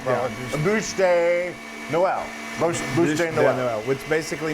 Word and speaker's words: Bûche de Noël: A bûche de Noël.